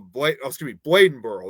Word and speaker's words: Bladenboro: I'm actually familiar with the Vampire Beast of Bladenboro.